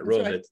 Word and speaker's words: Rohovitz: And then over on the personal order side, the business volume side, Lynn Rohovitz, I can't ever say her name right, Rohovitz, that's right.